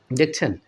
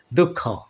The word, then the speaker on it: দুঃখ: প্রিয় ভাই ও বোনেরা দেখছেন দুঃখ অর্থাৎ বিসর্গের পরে পরবর্তী যে বর্ণটি থাকে সেটাকে ডাবল করে দীপ্ত করে দুইবার করে উচ্চারণ করতে হয় দুঃখ কি বুঝতে পেরেছেন